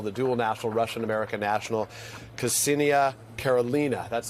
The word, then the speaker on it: Ksenia Karelina: Ksenia Kassa, I'll make sure I say her name properly. She is the American national, the dual national, Russian-American national, Ksenia Karelina.